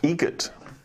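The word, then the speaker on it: Eget: Egot. Spelled different. Like the bird.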